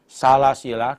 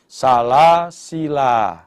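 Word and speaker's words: سلاسلا: sabaah yaitu Imam Nafi Imam hafz ini membacanya ada dua cara dua wajah yang pertama kalau dibaca wakaf bisa dibaca panjang sebagaimana bacaan Mad Iwat sehingga bacanya salasila satu Alif atau dibaca pendek dibaca pendek salasil ini kalau waqaf Tetapi kalau dibaca wasal dibaca pendek salasila wa aglala ini di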